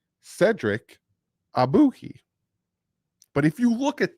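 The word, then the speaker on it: Ogbuehi: so I wrote it down phonetically and it's pronounced ah boo he abuki Cedric abuki but if you look at that o g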